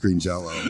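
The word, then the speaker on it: Green Jellÿ: a o out and which means it's still pronounced Green Jello oh I did not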